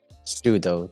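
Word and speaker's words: pseudo: okay uh oh yeah super pronounce sudo isn't it somehow always pronounces P though yeah sudo there we go sudo either sudo or Soo I don't know why yeah basically the P silent yeah yeah I don't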